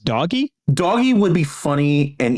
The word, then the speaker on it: Doge: government start a department of government efficiency or doge named after the meme with the Sheba Inu. I believe it's pronounced doggy.